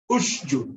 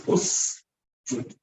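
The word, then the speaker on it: اسجدوا: If you mix them together, you're going to come out with a shin. You're going to say usjud, ush, ush, ushjud. No, it's usjud, usjud, usjud, usjud, usjud. Every letter gets its time to be pronounced.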